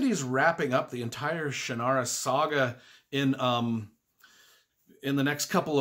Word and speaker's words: Shannara: The Sword of Shannara is for you.